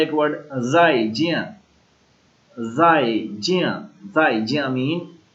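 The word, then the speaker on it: 再见: उसके बाद है एक वर्ड जाई जिया, जाई जिया, जाई जिया मीन गुड बाय। जिस तरह हम कहते हैं अल्लाह हाफिज, बाय बाय, तो चाइनीज में क्या कहते हैं? जाई जिया, जाई जिया, जाई जिया।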